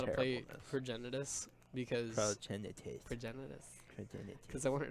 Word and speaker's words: Progenitus: Relic of Progenitus. I think that's literally the first time I've ever pronounced that right.